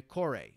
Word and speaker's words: kore: And the Kore, K-O-R-E, which are clothed female statues.